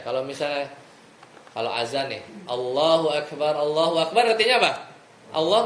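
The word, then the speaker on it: الله أكبر: Tapi kalau dipanjangin bacanya Allah, makanya salat hati-hati Allahu Akbar. Jangan Allah apa? A-nya panjang. Allah itu jadinya nanya. Itu jadinya nanya. Jadi alifnya dipanjangin. Kalau Allahu Akbar, Allah Maha Besar. Tapi kalau A-nya panjang nih Allahu Akbar artinya apa? Apakah Allah Maha Besar?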